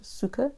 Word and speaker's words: succor: That is how you pronounce it, succor, S-U-C-C-O-R.